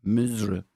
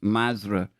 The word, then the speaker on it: Masr: While Al-Qahira is the official name of the city, in local speech, it's typically called by the name of the country, Misra, pronounced Masra in the local dialect.